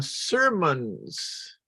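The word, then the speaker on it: Sirmans: a different one in a place called uh sermons which is spelled interestingly s-i-r m-o-n-s it was a Township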